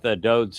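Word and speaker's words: דוד: So once again, this is of Dowd. If you're unfamiliar with that pronunciation, the fact is that Dowd's name is written as DWD, Daleth, Wah, Daleth.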